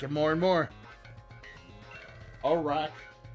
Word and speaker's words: Araquanid: Arachnoid. Not wid. Arachnoid.